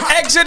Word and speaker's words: XIT: the album exit and it's spelt x-it which is my son's initials chavez ignacio thomas serious